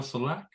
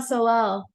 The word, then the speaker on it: Solal: that you had with if I get the name wrong, excuse me, but Francois Moutin. Yes, perfect. And Martial Salac. Oh, Martial Solal.